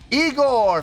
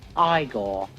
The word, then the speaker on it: Igorrr: Eigor fans feeling you. Come on now. Here we go. No, it's pronounced Igore.